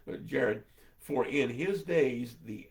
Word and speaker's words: Jared: Actually, it's pronounced Yared, but Jared.